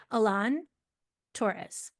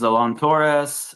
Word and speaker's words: Alon Torres: to start with um Alan taures if I pronounced you thanks yeah you did okay all right um hi everyone uh my name is Alon Torres um moved to Seattle about